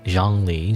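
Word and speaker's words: Zhongli: Zhang Li. Zhang Li's ZH is actually a J sound, so Zha.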